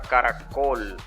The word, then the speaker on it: caracol: Lo mismo pasa en la palabra caracol. La sílaba tónica está en col.